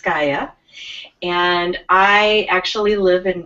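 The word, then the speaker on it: Skaja: um who's so skya s-k-a-j-a is pronounced skya and I actually live in Plymouth Minnesota my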